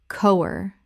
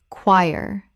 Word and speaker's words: choir: Common mispronunciation. Cower. Correct pronunciation. Choir. Two syllables. The CH makes a k sound and the OI makes a Y sound.